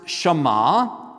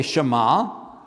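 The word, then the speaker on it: שמע: Uh it's pronounced Shema. Let's all say Shema.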